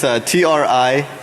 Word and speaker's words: Trinary: It's TRINARY, trinary, like 3 naries. All right, so trinary software is a technically